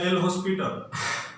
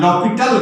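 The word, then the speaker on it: L'Hôpital: यह एल हॉस्पिटल नहीं है, यह इसका हम लोग उच्चारण लॉपिटल करते हैं। यहाँ लॉपिटल है, जैसे अंग्रेजी में हम लोग लिखते हैं कनाइफ, और इसमें इसको पढ़ते हैं हम लोग नाइफ। उसी तरह से यहाँ के साइलेंट हो जाता है।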